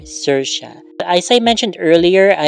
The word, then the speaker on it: Saoirse: But yeah, I at first I was pronouncing it as Sawirs. Okay. Because I really didn't know how to pronounce it, and then as it turns out it's supposed to be pronounced as Saoirse, which is even better. It's almost like Sasha, which I also like that name, but better, Saoirse.